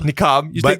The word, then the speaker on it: niqab: Niqab. People take say the the niqab actual off. headdress is called the hijab. Hijab. Okay. That's the one that goes around, right? Exactly. And then niqab is the one that's Yeah.